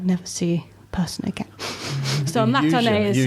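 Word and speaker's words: またね: Matane. Matane.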